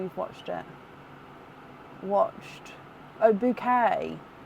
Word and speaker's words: Bucket: It's pronounced bouquet.